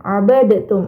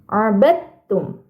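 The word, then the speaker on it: عَبَدْتُمْ: makhrajnya tapi beda sifatnya maka cara bacanya huruf dalnya dimasukkan ke dalam huruf ta abadum Nah jadi tidak perlu dalnya itu dibaca abadtum A itu keliru tapi langsung dimasukkan ke huruf ta abadum kita coba lagi teman-teman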